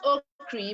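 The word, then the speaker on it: Okyere: e r e solomon oak cree okay y-i-e-r-e it's pronounced oh cree but it's spelt if it was a nigerian name it would be pronounced something like oh kerry okay y-e-r-e yeah okay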